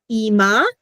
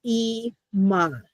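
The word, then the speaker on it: אמא: It's Ima. Okay. So the aleph makes no sound.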